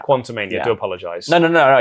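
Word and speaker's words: Quantumania: i quite like the portmanteau it's not like quantum mania it's quantum main yeah quantomania do apologize no no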